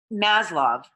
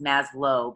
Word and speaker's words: Maslow: and Theory X so Maslov it's I know there's a W there and so you might think it's Maslow but it's actually pronounced